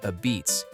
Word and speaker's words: apizza: Then there's New Haven apizza, pronounced "a-beets", don't argue.